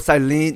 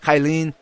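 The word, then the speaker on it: Cyllene: so you know what i think i missed it on the word cylene not kyleen oh forgive me on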